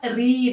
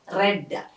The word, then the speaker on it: read: It's a not read, it's a read because it's a past time. I wrote it yesterday. So he read a novel yesterday. The spelling the same, but it's pronounced as read.